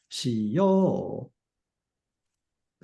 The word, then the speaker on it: しよう: And not to mention, all of the volitional form verbs, they get the stress on the o or yo. So しよう, stress is on the o vowel.